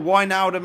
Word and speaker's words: Wijnaldum: Wijnaldum then, or Wijnaldum as I've been told by you Dutch guys is how you pronounce it, he was the star of the team.